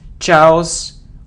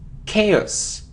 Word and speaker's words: chaos: a occasion occasion so it isn't Charles or house or cows it's chaos chaos it isn't develop its